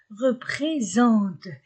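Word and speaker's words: représentent: Ils représente E-N-Z et E-N-A, S entre deux voyelles Z, représente, terminaison ne se prononce pas.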